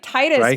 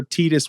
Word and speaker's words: Tidus: Most of us in the US would pronounce it Titus. Now, I could see where Titus would make sense for some of us, because again, I speak 2 languages and I is pronounced as E, right? That's true. Yeah. So I could see that, but no, it's Titus, right?